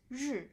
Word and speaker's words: 日: So the top part, actually this character by itself is pronounced as 日.